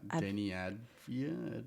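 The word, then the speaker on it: Deni Avdija: Uh, Denny Adia, a some Anyway, his defense on him at times was unbelievable.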